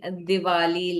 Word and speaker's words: Diwali: Okay, you should be writing Diwali like this and not with a W sound. But it's okay. I mean, fine. You know, it's no big deal. But you should know how it is being pronounced. Do not read it as a W.